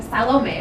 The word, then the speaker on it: Salome: From Adele Rice, the unwed pregnant girl playing Salome, which is how they say it in the show, they're Irish, to Sully O'Hara, an